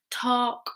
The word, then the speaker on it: talk: Talk, walk, very good.